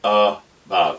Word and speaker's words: about: We don't say about, we don't say about, it's about. This is actually a schwa, and so your accented syllable is actually then this, because this becomes the purest clover syllable.